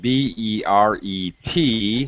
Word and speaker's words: beret: let's start learning english beret b-e-r-e-t yes the hat right the hat beret notice i don't pronounce the t these crazy french people